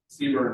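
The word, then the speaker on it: CBRNE: Seaburn, that's how it's pronounced.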